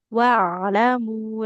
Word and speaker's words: واعلموا: Hanya di sini sedikit Ibu ain sukunnya. Wa'lamu lebih mengalir lagi.